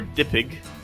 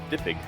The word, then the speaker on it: DPG: I'm here to tell you that you can pronounce DPG. Dipig.